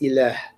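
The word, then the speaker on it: إله: So the word for God in Arabic is just ilah, right?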